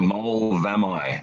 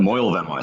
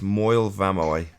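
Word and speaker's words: Moel Famau: Mole Vamai. Mole Vamai. M-O-E-L. Moyle Vamai, sorry. Moyle Vamai. We got the pronunciation. It's Moyle Vamoy.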